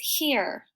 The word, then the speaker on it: here: This is a magic E word, so the E is going to say E, the E in the middle, and the E at the end is going to be silent.